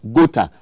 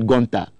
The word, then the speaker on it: GOTA: So there it is, GOTA. I never knew that's the pronunciation. I always said Gonta.